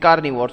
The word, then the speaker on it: carnivores: they are called carnivores like herbivores it is carnivores only the first half part of the word changes the words VOR es remains as it is ok now repeat after